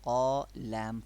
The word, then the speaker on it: قال: As we explained, Alif will be pronounced in a thick tone if it is preceded by a letter that is pronounced in thick tone. Look at here, Qaf is a thick letter It means we have to make thick tone here.